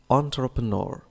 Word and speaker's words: entrepreneur: لاحظ النطق، حافظت على نطقها الفرنسي لأنها جاءت من اللغة الفرنسية entrepreneur.